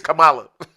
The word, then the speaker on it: Kamala: It's Kamala. Kamala. Right. Yeah, I've said it was not Kamala. Like the vice president.